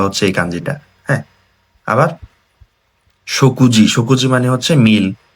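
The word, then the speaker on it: 食事: হ্যাঁ, আবার শকুজি, শকুজি মানে হচ্ছে মিল বা খাবার।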